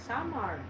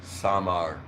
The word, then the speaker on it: Samar: That's not how you say it. You What? say it's Samar. Without rolling my eyes, Samar.